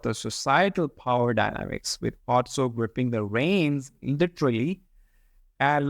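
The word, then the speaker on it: Pozzo: Or While you're talking about this character, I was thinking I have heard people pronouncing this word Pozo. So, yes. what's that? Pozo is correct? Or No, it's more like pizza. It's a no? Otso.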